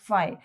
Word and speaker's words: phi: तो फ्लक्स को हम डिनोट करते हैं बाय a symbol, we call it एज फाई, PHIE इज the spelling, and we call it एज, we pronounce it एज फाई, ठीक है।